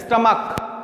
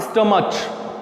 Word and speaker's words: stomach: are ending in ch, but if I pronounce it, what I pronounce it as stomach and not stomach, it's stomach, or monarch, not monarch, then it sounds like K, monarch, stomach, I add S, STOMACHS, or MONARCHS.